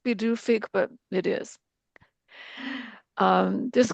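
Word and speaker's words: Pituffik: And I meant to look up what that translates as, but uh it doesn't look like it would be pronounced bedufi, but it is.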